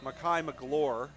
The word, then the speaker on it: McGloor: receiver mistake and uh apologies to the mcgloor family it's makai mcgloor is the uh proper phonetics proper pronunciation on his last name second down and very